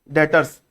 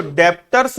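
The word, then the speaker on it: debtors: क्या होते है डेटर्स डेटर्स इसको डेप्ट्स नहीं पढ़ते ना डेप्ट बी साइलेंट होता है डेटर्स पढ़ते डेटर्स इसको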